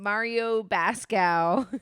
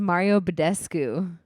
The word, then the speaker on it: Mario Badescu: of the time so y'all kept saying mario bascow what's his how do you say it i was i messaged lauren and i was like it's a mario badescu yeah there's a d in it but they're gonna be